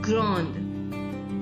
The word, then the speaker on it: grande: I'll repeat again that these consonants, the S added at the end of the plural form of the adjectives is silent. We will not pronounce this S. That is why the plural form also remains same in pronunciation with the singular form.